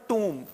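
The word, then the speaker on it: tomb: देखो यहाँ पे इसमें जो है ये बी साइलेंट रहता है, इसको पढ़ेंगे अपन टूम। ठीक है, और ऊ की जो साउंड आती है वो बड़े ऊ की साउंड है।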